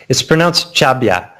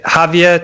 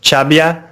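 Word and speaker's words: Xàbia: It's pronounced Chabia. It's like Javia to the English speakers, or Chabia to the natives.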